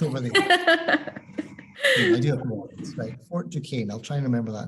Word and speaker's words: Duquesne: it Duquesne hey oh my goodness do not pronounce anything correct over there Fort Ducane I'll try and remember that in the future